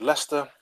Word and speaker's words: Leicester: is Vernon I'm from a place called Leicester in the UK which is one of those annoying cities that is not pronounced how you think it would be when you look at how it's spelled um I've been in